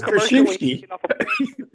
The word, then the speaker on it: Krzyzewski: His name is spelled like Krzyzewski. Coach K. I mean, what's Krzyzewski?